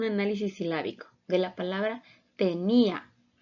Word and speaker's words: tenía: silábico de la palabra tenía es una palabra grave o llana está formada por tres sílabas y la sílaba tónica la tenemos en la en la penúltima sílaba y vemos que son